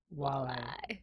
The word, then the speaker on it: walleye: this is on you walleye just walleye two syllables no i didn't say